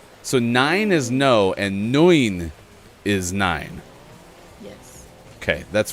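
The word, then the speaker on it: neun: was right snufkin so nine is no and noin is nine yes okay that's very similar nice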